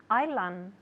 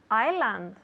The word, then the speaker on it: island: the people at home island good because it's not iceland no no s well there is an s but we don't pronounce it we say island island